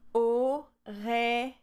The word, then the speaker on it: Aurélie: And then we have Li, the E at the end here is silent, so we have Aurélie, Aurélie, Aurélie. And often I say to people, it's like you saying, oh, really? Oh, really? It will be the closest way of having my name pronounced correctly.